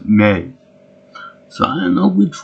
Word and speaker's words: Mai: Now, it's funny in this episode because I always thought that her name was Mai, as in mine, but they pronounce it as May.